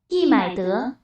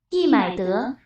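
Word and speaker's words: 易买得: 易买得，易买得， 이마트 약간 굉장히 흡사하죠.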